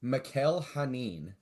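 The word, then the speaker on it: Mikel Janín: His name is Mikkel Hanin. Yeah, it is Mikkel Hanin, right? Yeah. Okay, because I was like, it could be just Michael and spelled like Mikkel. But Michael Janin.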